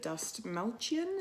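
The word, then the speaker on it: Dastmalchian: and the actor David Dust Malchian, if I'm pronouncing it correctly, Dust Malchian.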